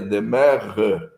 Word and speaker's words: demeure: Antônio Donisete Pereira o escreve-se demeure e a pronúncia seria dem tá é mais ou